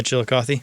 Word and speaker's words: Chillicothe: Yeah, Chillicothe.